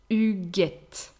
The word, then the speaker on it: Huguette: A mixed name starting with H is actually here has two different pronunciations. So Hugues, Hugues, that's the masculine, and Huguette, Huguette, that's the feminine.